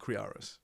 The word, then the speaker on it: Kriaras: I remember people put a V in there sometimes.